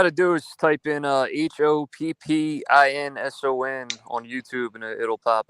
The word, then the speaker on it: Hoppinson: It's pronounced Hopkinson. It's Hoppinson. Hopkinson. All one word. Hoppins. Okay. Hopkinson. Hoppington. Okay. Hoppington. Okay, I gotcha. Right. No. Hopkinson. Hoppinson. Like Williamson. Oh, S-O-N. Son.